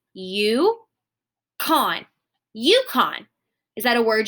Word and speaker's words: Yukon: So my U gets a long line because it is long and it says its name. It says U, okay? So now I can look at K-O-N. Well, this is a closed syllable because there is a consonant after my vowel. That makes my O say its short sound, ah. So this says Yukon.